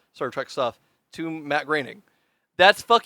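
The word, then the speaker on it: Groening: Matt groaning like he's I guess now he's the reason why I grining yeah it's pronounced graining sorry you're um Matt Matt graining I I can't believe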